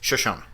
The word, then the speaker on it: Shoshone: I have to Shoshone you the right way to say this. It's Shoshone. Right, Shoshone Falls, and that's in or near Twin Falls, Idaho.